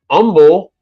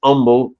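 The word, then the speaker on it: Humble: this is all me this is all Houston Umble I know it's hu MBL e but it's pronounced Umble Texas that is north side at the United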